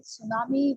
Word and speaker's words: tsunami: T is silent.